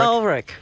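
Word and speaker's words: Ulrich: Olrich.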